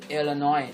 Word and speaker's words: Illinois: right I the ho Illinois the final again no s Illinois s is silent Indiana indana Iowa IA